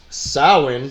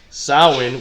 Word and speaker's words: Samhain: we know today but sewing which has become like one of our favorite words to say today sow in which is spelled sa ma che i N Samhain there's a band right